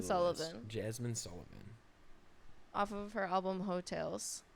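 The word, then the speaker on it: Heaux Tales: Jasmine Sullivan Jasmine Sullivan off of her album hotels hotels it's spelled h-e-a-u-x oh like go Tigers yeah yeah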